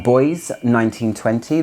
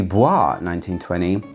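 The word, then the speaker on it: Bois 1920: saying Oro Bianco by Boys 1920 if you're gonna sit there and say it should be Boise 1920. it's not the case it's actually pronounced boys 1920 because of the it's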